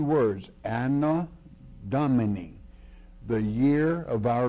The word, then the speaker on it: Anno: the Latin, it is 2 words, Anno Domini, the year of our Lord.